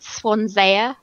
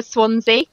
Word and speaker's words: Swansea: um we had um we had Swan for Swansea that so funny swans and